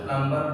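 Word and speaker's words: plumber: ना फिर next flower प्लंबर यहां पे नहीं पढ़ा जाता है प्लंबर प्लंबर बोलते हैं नल बनाने वाले होते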